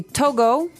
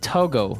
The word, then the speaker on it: Togo: Okay, so it's Togo. That's the way you pronounce it. Because if you look at it, I would say to go.